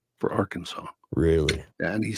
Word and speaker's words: Arkansas: I had a friend up until I haven't talked to him in years, but in our 20s, he was still saying Arkansas for Arkansas.